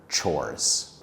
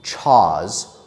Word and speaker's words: chores: Before I end this video, I want to talk about the pronunciation of the word chores. Some students mispronounce that word by saying chaws or chose.